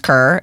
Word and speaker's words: Kerr: And I'm like, my last name's Kerr. It's currently Get it. Like, I feel like I don't have to spell it out, but apparently I do.